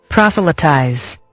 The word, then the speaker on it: proselytize: Proselytize.